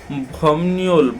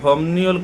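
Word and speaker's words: 법률: এখানে বলা হচ্ছে যে ভমনিউল ভমনিউল খিয়ক মানে হচ্ছে আইনি প্রশিক্ষণ এখানে আমরা ভমনিউ কেন উচ্চারণ করছি এর উচ্চারণটা একটু আমরা দেখি যদি বিপের পরে রিয়ল আসে এটা নিয়নের মত উচ্চারণ হয় আর এই নিয়নের মত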